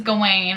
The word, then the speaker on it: Gawain: the round table so I said his name wrong earlier it is Gawain I just didn't want